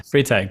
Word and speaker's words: Freytag: Did I pronounce that right? Yeah, Freytag.